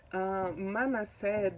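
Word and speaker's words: Manasseh: great meaning for them manna said the first son the pronunciation in hebrew was similar to forget to the verb forget so uh it was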